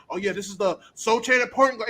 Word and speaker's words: Sochan: yeah, this is the Sochan at point guard, and I know the C is silent, I don't care.